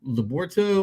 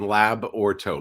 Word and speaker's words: Labyorteaux: to get this right is it leborto or liberto it's the third option lab or toe labrato laborto okay thank you very